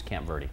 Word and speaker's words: Camp Verde: people have come to the consensus that they use Camp Verdie. They just say it that way. Really? Yeah. What about Camp Verde? They just they they don't even try to use the Spanish pronunciation.